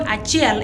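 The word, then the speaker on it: acel: Now, in Acholi, the word achiel is spelled as A-C-E-L, achiel.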